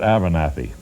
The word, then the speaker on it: WWCKLW: They pronounce it Abernathy. I don't know how, with a jumble of letters like WWCKLW, they could get Abernathy as a name?